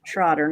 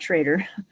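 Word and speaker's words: Schrader: And I realized I was pronouncing it incorrectly because um it's the German pronunciation. Troder, not traitor.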